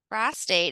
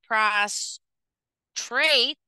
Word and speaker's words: prostate: the male bladder prostate if we pronounce it PR trait tra trait PR trait physically weak or exhausted or to lie flat on the ground so putting that emphasis in the wrong area also adding it an R prostrate instead of prostate changes its meaning completely so altering the pronunciation